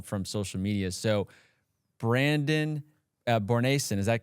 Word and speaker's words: Bornancin: So Brandon Bornancin, is that correct pronunciation? Yeah, Bornancin, you got it, man.